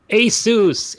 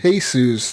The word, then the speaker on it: ASUS: you saying my name ASUS ASUS not Jesus it sounds like Jesus this is how people say it sometimes Asus is a pinball